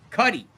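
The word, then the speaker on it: Cudi: Cuddy like muddy.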